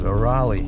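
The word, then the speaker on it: Rowley: Well, it's spelled R O W L E Y, but she says Raleigh.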